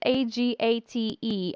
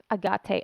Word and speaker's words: agate: that great so re it's a-g-a-t-e agat agate i don't know how to say it in english properly in russian we say a gut but in some cultures i heard say agate yeah anyway whichever whichever you choose um i love this